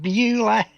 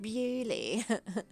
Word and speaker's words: Beulah: It's Costas going, Beulah! Beulah. Really? It's like, no, Costas, it's pronounced Bewley.